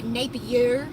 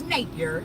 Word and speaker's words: Napier: Oh, and also whoever pronounced my last name Napier in that video, it's Napier. It's just not French. It's just Napier.